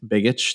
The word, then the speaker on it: Begich: Congressman Nick, I don't know how to say it, pronounce that last name, Begich, thank you, Opti, and Senator Lummis introduced Landmark Bitcoin Act to establish a U.S.